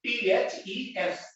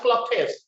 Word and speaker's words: clothes: छोटिया जिनस कहबी गोटे उच्चारण शिखेबी normally CLOTHES. Don't pronounce it as clothes, it is clothes.